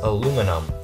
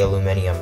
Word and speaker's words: aluminum: How do you pronounce aluminum? Aluminum or aluminium? Is that... British people say aluminium, don't they? I say aluminum.